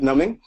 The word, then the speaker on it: numbing: Psychic number, wow, the B is silent. Psychic numbing and somatization.